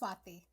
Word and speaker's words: Swati: Yeah, my name is pronounced Swati. Oh, Swati. Yeah, Oh, Chris, you okay.